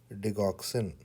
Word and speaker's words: Digoxin: here is you have dexin so please remember dexin so how you need to pronounce it it is dexin dein dexin so